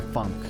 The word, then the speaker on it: FUNKe: it pronounced funky or Funk it's pronounced F the emphasis is on the F actually Funk like imagine you're saying my name but you got kicked in the gut right as you started saying it ladybug